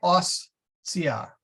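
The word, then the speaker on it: hostia: Keep in mind that ostia, if you split it at the syllable, the OS and the TIA, you can say ostia. Yeah. But you don't put that pause in there. You just say ostia.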